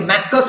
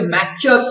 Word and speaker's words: Maccius: ইটালিতে সিসি যখনই উচ্চারণ হয় তখন চয়ে চয়ে অনেকে ম্যাক্কাস বলতে পারো, অনেকে ম্যাকচাস বলতে পারো বাংলাতে, ঠিক আছে? অনেকে কয়ে কয়ে উচ্চারণ করে, অনেকে চয়ে চয়ে উচ্চারণ করে।